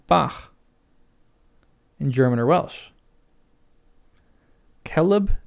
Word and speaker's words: celeb: C has always the value of K even before E and I.